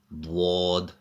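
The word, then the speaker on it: ض: And the last letter for today's lesson is Dwad. Dwad. Dwad. For the letter Dwad, the upturned side of the tongue touches the gums of the back teeth. This letter is pronounced full mouth.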